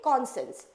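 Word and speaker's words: conscience: ई सी ओ एन मैं इसलिए बोली आप साइंस बोलोगे नहीं बट इसकी स्पेलिंग को याद रखने के लिए मैं बोल रही हूं कौन भी रहेगा और साइंस भी रहेगा बट हम लोग इसको डायरेक्टली बोलेंगे कॉन्सेंस कॉन्सेंस ओके कॉन्सेंस चलिए आगे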